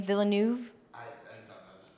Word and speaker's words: Villeneuve: Do not pronounce the S to Denis, it is silent in French. Do not say Denis, but rather Denis Villeneuve. Denis Villeneuve. Villeneuve.